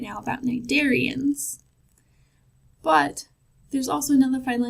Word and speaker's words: Cnidaria: And that's, evolutionarily speaking, that's kind of what a cnidarian is, right? But let's talk more about what makes this group unique. So Phylum Cnidaria, again, that C is silent.